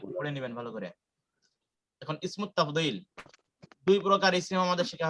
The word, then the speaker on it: اسم التفضيل: এখন ইসমুত তাফদীল, দুই প্রকার ইসম আমাদের শেখা হয়ে গেছে।